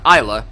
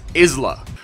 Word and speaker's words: Isla: pronounce his name now it's not Isa it's Isla all right guys four shots